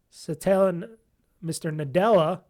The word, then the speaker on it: Satya Nadella: Microsoft CEO, Satya Nadella, that's how you say it.